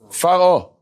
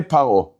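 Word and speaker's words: פרעה: If it has an Aleph, Vav, Yud, or a He, those 4 letters right before the Pe, it makes it Rafa. It makes it non-Dagesh.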